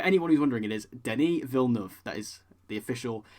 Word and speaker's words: Denis Villeneuve: So it is, for anyone who's wondering, it is Denis Villeneuve. That is the official pronunciation from him.